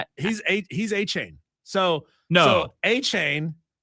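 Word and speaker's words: Achane: Miami Dolphins Stonewall teams calling to inquire about Devon Acne. Is that how you pronounce it? He's a He's Achain.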